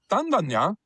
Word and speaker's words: Tandanya: Tandanya comes from Tanda, Ganya. Tanda is a male red kangaroo, and Ganya is a rock. But Tanda, Ganya together is pronounced Tandanya, which means the rock